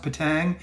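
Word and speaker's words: Petang: how did i do is it patang p-e-t-a-n-g i know that but is it's pronounced patang very good good morning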